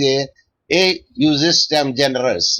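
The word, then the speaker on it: ejusdem generis: So ejustem generis pronounced as a justem generis is a Latin term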